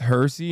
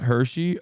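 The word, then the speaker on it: Hirsi: six seven years ago it's pronounced hery not Hershey oh okay I don't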